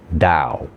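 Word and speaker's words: Tao: The silent empty invisible space that is withinized all form is called the Dao spelled T AO spelled with a T and pronounced with a D. Dao.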